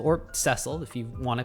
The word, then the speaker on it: Cecil: of all time, Final Fantasy 4's main character, Cecil or Ceile if you want to pronounce it the correct way.